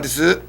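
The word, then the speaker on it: です: Normally people say, how come the U in des is silent?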